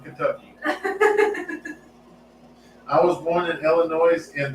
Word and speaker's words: Illinois: he's the one from Illinois no it wasn't he's from Kentucky I was born in Illinois and the S is silent well you tell them